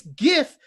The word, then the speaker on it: GIF: other answers are wrong it's gif as in Jen gifted maybe you're not inbox